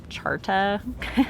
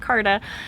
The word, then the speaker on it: Carta: james dougherty the magna charta i think we normally pronounce it carta but this is about